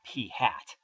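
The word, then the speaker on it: p̂: usually call this number P hat uh that little arrow head above the P pronounce that P hat uh P hats is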